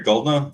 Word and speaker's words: Goeldner: my name is goldner that that e is silent or it is now I don't know how it was pronounced in Old Germany uh I am a